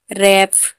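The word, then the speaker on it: wrap: Wrong, WRONG, wrong, wrong, sorry, wrong, wrong में आर से पहले डब्ल्यू है तो डब्ल्यू साइलेंट है। Right, WRITE, right. रैप, refer, wrinkle, सब में आर के आगे डब्ल्यू है, मतलब पहले डब्ल्यू है तो डब्ल्यू यहाँ पर साइलेंट है।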